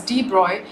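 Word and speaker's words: de Broglie: French physicist Luis Victor debroughly pronounced as Deep Roy 1892 in to 1987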